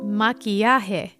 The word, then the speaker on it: maquillaje: Makeup in Spanish is called maquillaje.